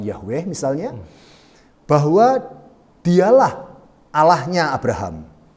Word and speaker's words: Yahweh: Ya, pelafalannya seperti apa? Ada banyak diskusi tentang itu, tapi kami menggunakan pelafalan Yahweh misalnya, bahwa dialah Allahnya Abraham, Allahnya orang Israel, dan kemudian disebut Yesus sebagai Bapa.